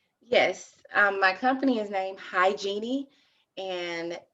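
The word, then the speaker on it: Hygenie: more about this yes my company is named hi genie and it's spelled h-y-g-e-n-i-e-e hi genie and you can follow us on instagram that's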